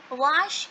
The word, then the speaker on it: vache: So again that same formula, that A is with V, so we will not pronounce V as way. We will pronounce V and A together. That would become va. So VACHE will become what? It will become wash.